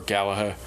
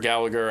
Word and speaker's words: Gallagher: of my my favorite or galaher galaher gaher Gallagher I don't know they pronounce it different ways not the guy with